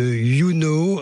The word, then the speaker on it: Younau: Vous êtes la cofondatrice de YouKnow. Je prononce bien, j'espère. Oui, c'est ça, oui. YouKnow à Saint-Privat-des-Vieux dans le Gard.